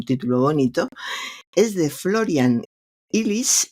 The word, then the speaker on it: Illies: Es de Florian Illies. Se escribe con doble L. El apellido es alemán, pero bueno, lo pronunciaremos así.